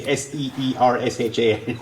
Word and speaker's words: Saoirse: You can say it's Saoirse, you know, and you can pronounce it phonetically Seersha.